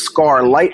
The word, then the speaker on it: SCARlit: his consciousness or shed his consciousness into this SCAR light model. And it's interesting because scar scarlet, my brand is spelled S C A R and then Liit T is smaller letters.